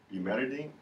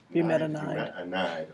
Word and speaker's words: bumetanide: What is it? Bumetidine? Bumetanide, okay.